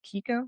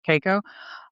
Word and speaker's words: Keiko: Well, and you see how it impacts, I mean, even the love interest, Kiko, am I pronouncing that? Keiko? Keiko. Keiko.